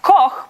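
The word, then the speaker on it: Koch: My last name is K O C H. It's meant to be pronounced coke, but if you're living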